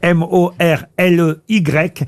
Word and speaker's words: Morley: Bridget Jones et est bien né à Morley mais ça s'écrit m o r l e y Morley dans le Yorkshire bravo Barbier nêtes pas